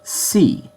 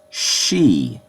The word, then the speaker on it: し: rule this is not C this is she Shi in Roman cuz that's how it's pronounced it's she it's not a big